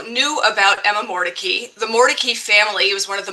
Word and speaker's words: Mordecai: at Emma Mory's name and say that you pronounce it Morai, in fact, the family pronounced it Mordei, and that's what you will hear me saying.